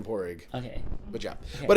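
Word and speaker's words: Pádraig: So yeah, I tell everyone with an American accent, it's opposite of a rich egg. It's a poor egg.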